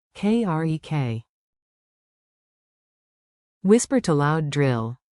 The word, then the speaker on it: керек: Clap the rhythm with me for a clean accent. Beat it out. Маған 2 beats. керек. 2 beats. Mаған. Krek. Whisper to loud drill. Mаған. Krek.